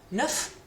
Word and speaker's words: neuf: Neuf, so different pronunciation, neuf, neuve. And masculine plural, neuf, and feminine plural, neuve. So we don't really hear those S's on the end.